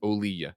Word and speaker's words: Olija: says Devolver Digital, publisher of Olija, says it's pronounced Olija.